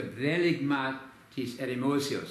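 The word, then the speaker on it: βδέλυγμα τῆς ἐρημώσεως: In Greek, the Bdeligmatis Eremosios. I'm using the modern Greek pronunciation deliberately because that's what we did at Atlanta Bible College and we do it at Harvard too.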